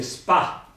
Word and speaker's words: spa: Quindi spada si dice spa.